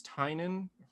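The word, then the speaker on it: Tynion: a new comment that came out by james tynan that's the pronunciation called a nice house and my boy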